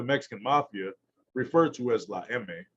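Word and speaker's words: La Eme: mafia referred to as la emme the spanish pronunciation for the letter m is undisputedly at the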